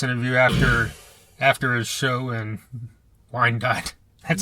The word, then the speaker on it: Wyandotte: Well, we did this interview after his show in Wyandotte.